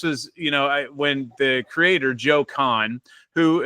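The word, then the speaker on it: Cahn: And this was, when the creator, Joe Kahn, who its last name is spelled C-A-H-N, he was the guy that founded the New Orleans School of Cooking, like Peter said, in 1980.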